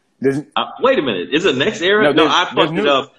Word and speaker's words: NextEra: So speaking of pimping in the game, okay, NextEra is a company. Spell it just like it sound, all one word, NextEra.